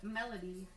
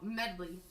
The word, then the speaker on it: medley: Your word is melody. The symphony orchestra performed a melody of popular holiday songs. Excuse me, could you try that The word again? pronunciation is incorrect. Oh, medley.